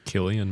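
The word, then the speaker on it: Cillian: you pronounce Killian really it's a tricky one it's a hard C but I mean generally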